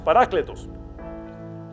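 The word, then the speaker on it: παράκλητος: Parakletos, cuya pronunciación en griego es parácletos.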